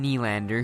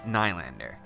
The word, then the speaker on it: Nylander: First up, we have William Nylander, whose name really should be pronounced Nylander.